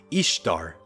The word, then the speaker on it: Ishtar: Ese nombre encontrado por Layard en los monumentos asirios es Ishtar, como Easter, Pascua, pronunciado Easter en inglés.